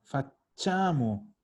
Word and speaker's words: facciamo: Noi, y aquí de nuevo tenemos un chia que suena cha. Facciamo.